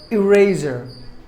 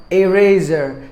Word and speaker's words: eraser: is another word called eraser eraser the ESL speakers tend to pronounce it like a razor just because it begins with a letter e I hope my videos